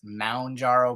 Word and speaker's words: Mounjaro: me that about half of YouTube calls it Mount gyro and that I call it moonjaro and sometimes I skip the ooh and I just go I've noticed that when I've I've heard myself say it like M apostrophe injaro it's not lost I mean I actually have called Eli Lilly and asked them question I know that it's Mound jarrow but I'm In Too